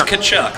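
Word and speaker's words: Tkachuk: I can't pronounce it. It's Kachuk, like Kachuk.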